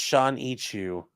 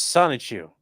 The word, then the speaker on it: Sonichu: It's pronounced Sean Ichu. Gotta be careful there. Sean Ichu. No, it's Sonichu.